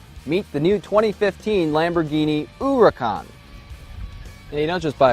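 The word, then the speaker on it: Huracán: it should be pronounced hurricane or huracan it's actually pronounced uracon according to lamborghini the name comes from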